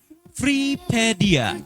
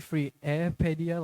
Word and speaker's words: Freedia: It's actually freeedia like freeedia but like a lot of people like say it like freepedia and I see where they're coming from.